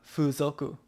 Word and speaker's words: fuzoku: It's got a line K-O-O. Over the U. So it's got the K-O-O. F-U-Z-O-K-U. Fuzoku.